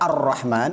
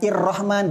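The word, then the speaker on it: الرحمن: cara bacanya jadi Arrahman Kenapa dibaca Arrahman padahal ini Hamzah wasal bukan irrahman bukan urrahman karena ini ada alif lam Begitu juga dengan alif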